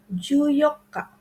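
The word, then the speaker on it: 十四日: mesti diperhatikan yang highlight-nya seperti tanggal 14 juyoka juyoka atau tanggal 17 tanggal 17 itu juinich atau tanggal 19 jukun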